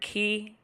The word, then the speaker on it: Kei: I use they, them, their pronouns, or Kei, which is pronounced Kei.